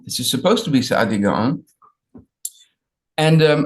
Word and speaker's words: Saadia: is supposed to be Saadia Gaon. And I wrote on top the way you would pronounce it, Saadia Gaon, but on the bottom is it how everybody spells it, Saadia.